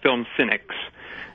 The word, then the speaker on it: FilmCynix: Well, you know, our film company, John and mine, our film company is called Film Cynics. And it's spelled FilmCynix, but of course it's film and then of course Cynics.